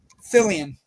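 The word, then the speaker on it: Fillion: Fillian.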